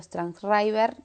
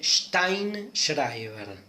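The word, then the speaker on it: Sztajnszrajber: Para hablar de identidad, me baso en un texto de Darío Zeta, Darío Strangschreiber, no se pronuncia así, pero bueno, le decimos Darío Zeta. Bueno, no es tan grave, ¿eh? Se dice Steinschreiber.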